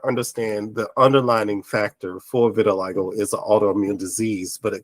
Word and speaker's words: vitiligo: is not leprosy and don't call it vertigo because it's not pronounced vertigo it is called vitiligo but and and vertigo